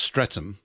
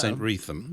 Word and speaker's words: Streatham: Uh usually pronounced Streatham, but often if you're posh, it's St. Retham.